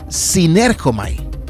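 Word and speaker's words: συνέρχομαι: Por eso hoy quiero hablarles de este término que encontramos en los escritos de los apóstoles, que aunque veas una U por cosas del griego, se pronuncia sinergomai.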